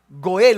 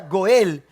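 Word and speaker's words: גואל: Sabe que la palabra redención, la palabra redención viene de un término hebreo que ah se se pronuncia goel o se escucha goel.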